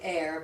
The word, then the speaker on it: err: to err on the side of caution, don't you? Many people say air, but I've always preferred the original pronunciation of er.